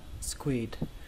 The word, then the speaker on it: squid: Ở đây chỉ có một lưu ý là cái chỗ âm U này các bạn hãy xem nó như là âm câm. Chúng ta chú ý đến âm Y thôi. Và cách đọc của nó là squid. Các bạn nhớ là kết thúc bằng âm D.